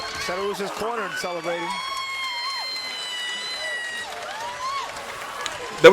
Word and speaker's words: Cederroos: Cederroos is cornered and celebrating. That was a very fun fight. I hope that they don't rob Cederroos, is how you say her name, from Sweet.